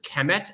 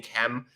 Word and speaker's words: km: So when we're saying kem, we're assuming a kind of short E between the K and the M, but really what we just have is K and M, but we pronounce it as kem for convenience sake.